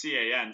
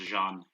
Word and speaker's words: Can: It's CAN, so English you want to say it's can, but yeah, it's pronounced Jean, I believe, is the proper pronunciation for it.